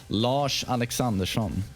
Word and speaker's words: Lars Alexandersson: And today a video on Lars, a character I don't discuss too often, Lars Alexandersson. That's the way you pronounce it for real in Swedish.